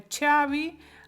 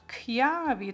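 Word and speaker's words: chiavi: забуваємо з вами що ми це читаємо не чаї а к'яві тому що чи АК і і читається як кий тому к'яві Ну як Як успіхи впевнено що поки що на 100%.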